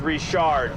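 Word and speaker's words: Richard: My name's pronounced Rishard.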